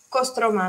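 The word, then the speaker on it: Кострома: Pronunciamos como Kostroma, mi ciudad natal, sí, un poco más con O.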